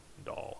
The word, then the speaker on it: Dall: I mean, it's Dall, so it'd be like ball, but with a D, so Dall is what I would guess, right? Yeah. It's probably a French word, and it's pronounced like Dalle.